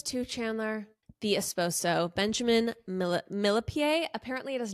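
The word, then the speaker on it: Millepied: Benjamin's last name as millipede because that's how it's spelled but apparently it's French and it's actually pronounced millipie but I think millipede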